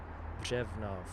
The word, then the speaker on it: Břevnov: And today we're going to be investigating the district in Prague, Czech Republic, of Břevnov. It's got that R in it, which is really difficult for us foreigners to pronounce. Břevnov.